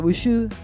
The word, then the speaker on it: Bojoux: Y nos buscan en las redes, ahí está, antes pasó Horacio Bojoux, que se pronuncia Bouchou, y ahí estoy, Elian Viamonte.